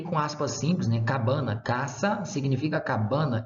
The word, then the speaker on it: casa: acontece por exemplo casa casa em português é casa não mas em Latim é caça caça vocês vão ver